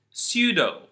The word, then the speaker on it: pseudo: psychology pseudo P psoriasis you can notice that in all these words there is a p followed by an s in the beginning of the word we drop the P we never say psychology